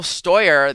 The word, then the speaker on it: Steuer: for so long uh very very German stoer is your last name which actually I was